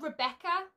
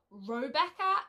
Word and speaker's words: Robecca: good oh my gosh i've been calling her rebecca and not robecca and oh my gosh i was so shocked when i realized that i've been saying it wrong and spelling it wrong